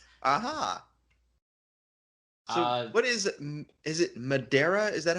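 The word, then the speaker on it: Madeira: to Google it aha what is is it Madera is that how it's pronounced madira madira yeah well it's a Portuguese Island that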